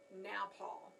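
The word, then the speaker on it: nopal: round pads right here, also known as nowpal. And I looked that up so I would be pronouncing it right. So cactus pads are also called nowpals. Is a Spanish word.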